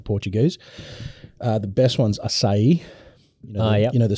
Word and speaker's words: açaí: The best ones are açaí. You know the C with the little thing underneath. It's pronounced as açaí, whereas most people say açaí.